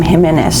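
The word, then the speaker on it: Jiménez: And um M I yesterday he told me to pronounce his name Jimenez. So, I'm going to say it like that, but you may be familiar with saying it a different way.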